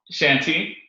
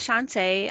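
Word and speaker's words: Chanté: you come on um shanti shanti hi and i'm shantae nah nah it's okay it looks phonetically that's what it says shanti um so my name is chante um i have worked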